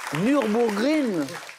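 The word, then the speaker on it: Nürburgring: Nurbourgreen. A priori voilà, on prononce pas forcément le je final mais c'est ça.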